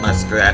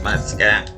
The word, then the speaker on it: Muscat: I almost said Muskrat, but it's not Muskrat. It's Muscat.